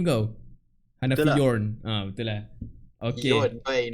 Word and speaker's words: Hanafi Yorn: Yeah, dan bersama Hadri kita ada Hanafi Yorn. Yes. What's up yo? Betul lah aku pronounce name kau? Hanafi Yorn.